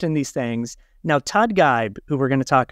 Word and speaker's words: Geib: gu I will say you will come across his name pronounced very differently I think when I was first reading about it in my head I was saying geeb yeah sometimes you'll hear refer to that however According to some documentaries that his family is involved with they say gu so I'm going to I'm going to assume that's the way you say his name would know they